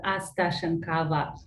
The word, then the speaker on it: Astashenkava: last name is pronounced astashenkava and it looks a little overwhelming with all the letters but it just sounds like it's spelled so thank you thank